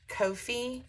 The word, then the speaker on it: Ko-fi: he has this great I think it's pronounced Kofi shop k- fi and um you can